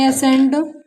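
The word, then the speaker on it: ascent: सी साइलेंट कब होता है? एस के बाद आया सी साइलेंट होता है। फॉर एग्जाम्पल, यहाँ एस के बाद सी आया है हमारा तो यहाँ हमारा सी साइलेंट होगा।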